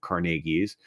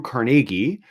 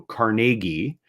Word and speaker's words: Carnegie: his name was uh with the emphasis on the second syllable so carnegi is how Andrew carnegi